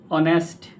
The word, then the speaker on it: honest: We can see that knife honest starts with H. Knife starts with K and word no K N O W here K is silent in knife K is silent honest H is silent right?